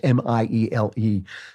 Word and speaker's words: Miele: I'm sorry, I don't know exactly how to pronounce his name. It's Miele.